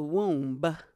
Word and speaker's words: womb: When I was in the womb, she ate. You just pronounced the B in womb?